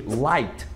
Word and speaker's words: light: Mesmo vale também para algumas vezes a dupla GH, principalmente quando tem um som de vogal antes, que é o caso de light, ou então high. Tá vendo que tem GH com som de vogal antes? Então a gente não fala esse G e nem esse H.